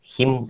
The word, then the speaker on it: hymn: The pronouncing the hymn എന്നാണ്. Last N is not sounded. It's pronounced as hymn.